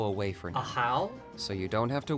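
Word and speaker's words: Ajaw: read it as like a jaw no is it like Spanish style like the J being pronounced like uh H wait isn't that a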